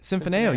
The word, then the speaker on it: Symphoneo: Tell me a little bit about Symphoneo Consulting. I said it right? Symphoneo, you nailed it, man.